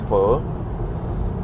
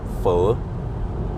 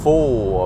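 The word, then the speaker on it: phở: to go to Metro because they have nice for and do we have any Vietnamese people here according to the Vietnamese people the way you pronounce it is fur full you know not not full of yeah I don't know how they but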